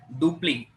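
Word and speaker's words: Dupleix: p l e iix you should not call him as duplex you need to call as duple only because French spelling will be one and pronunciation will be other okay so French was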